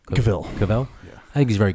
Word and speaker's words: Cavill: Cavill. Cavill.